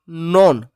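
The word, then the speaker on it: know: प्रश्न क्रमांक 10 the silent letter in the word नोन। के एन ओ डब्ल्यू एस को बोलते हैं नॉन। तो इसमें के साइलेंट है बेटा।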